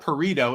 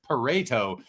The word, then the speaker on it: Pareto: is it's not where someone said we're saying it wrong it's not burrito it's Pareto thanks for clarifying but I